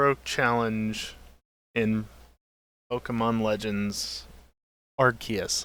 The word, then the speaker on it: Arceus: challenge in Pokemon Legends AR yes I'll say it correctly for once look the Japanese pronunciation of it sounds more like arus so uh that's my justification for saying it that way do I need further